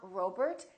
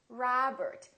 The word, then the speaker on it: Robert: contain the a sound many of these words are going to be spelled with the letter O make sure that you don't say o it's not Robert it's Robert it's not McDonald it's